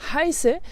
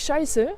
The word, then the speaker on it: heiße: Donc quand tu dis ich heiße, c'est pas ich scheiße parce que là tu es en train de dire un gros mot, ou bien ich habe, mais ich habe, ich habe.